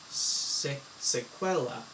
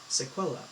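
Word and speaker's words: sequela: them for this um that's singular pronounced sequella sequella uh like a 16th century Italian monk speaking Latin it's funny um donut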